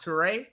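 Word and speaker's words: Touré: I think his last name is pronounced Toure. You don't want them. Toure. You say that. It's Toure.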